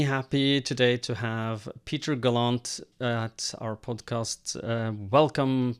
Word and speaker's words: Gallant: is galant or gallant or I answer to practically anything but uh Peter Galant is the most common pronunciation.